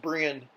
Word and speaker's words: Brien: It looks like it's spelled Brian, like maybe Brien, but it's pronounced Brian.